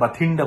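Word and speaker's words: Bathinda: তুমি মোবারক তোমার সমস্যা তুমি ভাতিন্ডা মনে রাখো ভাতিন্ডা বানান এখানে বি এ টি এইচ আই এন এ আমরা বাংলায় ভাতিন্ডা বলি একচুয়ালি এখানে উচ্চারণ যদি করতে হয় বাথিন্ডা বলতে হয় হোয়াট এভার তোমার যেভাবে মনে রাখো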